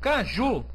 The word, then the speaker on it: caju: Opa cuidado aqui ó quando eu digo Caju a última sílaba é pronunciada mais forte então é uma ox